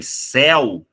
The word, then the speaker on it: céu: carro aqui na frente seu também é um ditongo só que repara que o eu é fechado então eu não preciso acentuar esse cara porque ele já é o padrão normal da nossa pronuncia porém céu o é aberto esse cara merece um assento gráfico o rato roi ora